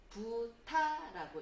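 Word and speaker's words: ぶた: 그 밑에 보시면 후라는 글자에 또 땡땡이 붙었어요. 그러면 부가 됩니다. 그래서 부타라고 읽어주시면 되고요.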